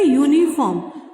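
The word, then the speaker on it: uniform: Similarly यूनिफॉर्म, अब आप यू को देखकर बोल देंगे मैम एन आएगा इसमें, है ना, लेकिन ऐसा नहीं है। यूनिफॉर्म किससे स्टार्ट हो रहा है, अगर इसको हम हिंदी में लिखेंगे तो ये य से स्टार्ट हो रहा है। किससे स्टार्ट हो रहा है, य से।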